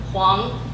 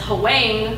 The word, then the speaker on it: Huang: partial Chinese English Dictionary Huang adjectives yellow the way son filters through dusts the way of river flows through silt commonly mispronounced as Hawaii by American teachers white classmates and immigration